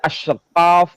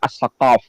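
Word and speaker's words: السقاف: Kalau di Indonesia ini kan ada Syihab, ada Al-Jufri, kemudian ada Asyqaf atau Asegaf kalau di Jakarta atau di Surabaya. Sebetulnya yang benar pelafalannya adalah As-Saqaf. Nah, ini namanya adalah Muhammad Ahmad Al-Hamid.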